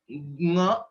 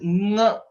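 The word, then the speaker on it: ङ: It is not just nga, it is nga. There is a nasal element that is coming while pronouncing this letter, which is the fifth letter, nga.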